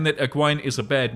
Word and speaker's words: Egwene: I don't have the slightest idea how it was originally intended to be pronounced. Right, so in the show, it's Egwene Alvear.